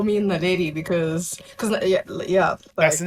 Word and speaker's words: NALEDI: I gotta remember to pronounce that right. It's NALEDI, yes. NALEDI. I don't know why I want to say NALEDA, but that's not it.